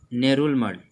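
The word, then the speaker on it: Ngerulmud: नेरुल मड। नेरुल मड, तो यहाँ पे जी जो है साइलेंट है, इसका करेंसी है यूएस डॉलर।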